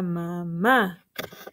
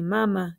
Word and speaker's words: mamá: escribir mamá m m acento en la a para que diga mamá si no tiene acentos hubiera de decir mamá el lápiz es para mi mamá y no se dice